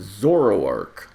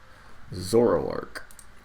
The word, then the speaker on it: Zoroark: How do you pronounce it? Zoroark. Zoroark.